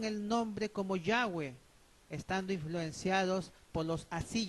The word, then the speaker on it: Yahweh: En su libro Santifiquemos su nombre, admiten libremente en las páginas 16 y 18 que Yahweh es la mejor pronunciación del tetragramatón.